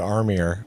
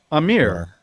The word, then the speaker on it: Aamir: Well, So, you also pronounce it Armir, which I think is endearing. Amir. That you've never said Amir. You always say Armir with an R.